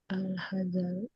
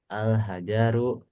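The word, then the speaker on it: الحجر: Alhazaru. Alhajaru. Jnya pendek Jar.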